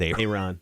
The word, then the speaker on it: Ayron: aaron jones because i i still almost don't believe his name is a ron yeah and when we first got it i said aaron just because you look